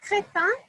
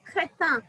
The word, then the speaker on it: crétin: For example, the word chrétien is Christian in English. And if you deviate a little bit and say crétin, means an idiot. So chrétien, crétin. So you can start a war if you do not have the right pronunciation, right?